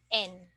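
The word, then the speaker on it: 円: say it in Japanese you pronounce the Yen as just n okay so of course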